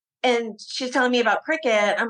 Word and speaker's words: Cricut: I am working right now with a woman who is the queen of cricket. And cricket is spelled CRICUT. And for years, I was pronouncing this cricut.